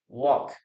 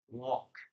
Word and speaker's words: walk: Walk. Remember that we don't pronounce the letter L here, okay? We never pronounce the letter L. What does walk mean, guys? We never pronounce the letter L, okay? Walk.